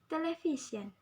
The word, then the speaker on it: television: Television, the stress at the V.